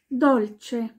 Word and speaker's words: dolce: Dolce, das heißt süß oder etwas Süßes, was Süßes zum Essen.